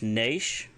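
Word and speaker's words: nayc: If you want to say no, it's naish, spelled N-A-Y-C, naish.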